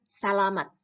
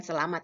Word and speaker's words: salamat: Yang di kiri, tulisannya salamat. Bukan selamat ya, salamat. Apa yang ditulis dibacanya seperti itu.